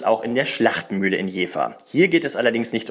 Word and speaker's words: Jever: richtig aussprechen sollte und da das V in Deutschland meist als W ausgesprochen wird etablierte sich schnell das Wort Jea das ist bis heute